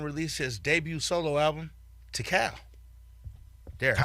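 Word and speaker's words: Tical: 1994 Method Man released his debut solo album to Cal there I said it right that time Tycoon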